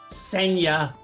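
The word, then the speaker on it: Ksenia: she likes to say it's Senya that starts with a K, but the K is silent, like she is.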